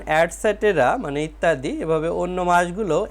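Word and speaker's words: etc.: বর্ণটি বড় হাতের হবে ইটিসি এর উচ্চারণ অ্যাডসেটেরা মানে ইত্যাদি এভাবে অন্য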